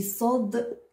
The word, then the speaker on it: ص: Et Sad, il est gonflé.